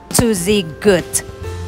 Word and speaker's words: Tuzigoot: the Susy good National Monument it says it's pronounced to Zig good so it's physical meaning crooked waters and approximately